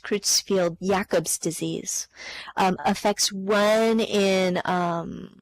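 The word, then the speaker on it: Creutzfeldt-Jakob: butcher the pronunciation here I believe it's pronounced Cruz field Jacobs disease affects one in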